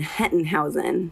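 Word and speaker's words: Hettenhausen: ATI a conference with can you pronounce and spell your last name for us right yeah it's German Henton Heusen h ET t en h au sem i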